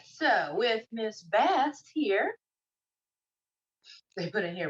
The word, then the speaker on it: Bast: right so with miss bass here they put in here rhymes with max fast makes sense uh the